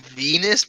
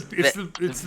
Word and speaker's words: Venice: more You pronounced it Venus, bro. Yeah, it's the Venice. best map on myth. It's not Venus.